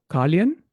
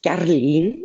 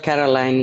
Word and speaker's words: Carleen: Am I pronouncing your name correct? Yes, my name is Carleen. I'm calling Carleen. from Antwerp, Belgium. Yes, Okay, Carleen. Carleen. Carleen. Okay. But Caroline is fine.